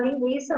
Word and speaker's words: linguiça: Então, na linguiça, antes tinha trema, para poder pronunciar a letra U, né? Para fazer ali o encontro vocálico, enfim. Hoje já não tem, mas a pronúncia continua a mesma. Eu pronuncio linguiça, eu não vou pronunciar linguiça, tá?